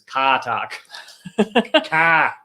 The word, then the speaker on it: Car Talk: or you appreciated the car talk also frank now i really want some chips it's actually i'm not so i'm not pronouncing it right i'm saying car talk it's katak oh my god that